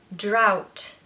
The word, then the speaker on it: drought: seven drought drought drought looks like it should be draw could hurt or something but don't pay any attention to that ght it doesn't exist I want you to look at that as a t sound so drought it's like the word out with a Dr you know that you